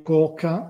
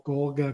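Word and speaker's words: Kōka: ti dicevo prima di IgA e Coca o corga come da qualche parte lo pronunciano IgA e Coca sono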